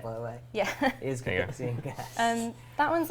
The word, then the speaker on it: Cathixian Cache: Is Cathixian Cache.